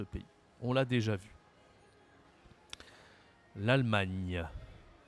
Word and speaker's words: l'Allemagne: on l'a déjà vu l'Allemagne l'Allemagne l'Allemagne cette prononciation à la fin du mot l'Allemagne ok c'est comme le mot montagne Allemagne montagne allez peut-être